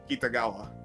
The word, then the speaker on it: Kitagawa: We're just gonna go talk to Kitagawa. Oh, Oh, that's what you dear meant. Oh my god, that pronunciation makes me want to vomit. How is it properly pronounced? Kitagawa. Kitagawa, okay.